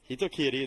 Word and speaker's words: Hitokiri: We do know Kitties will be playing Sakura or the Hitokiri. Hitokiri, there we go. I was not confident in my pronunciation ability of that character.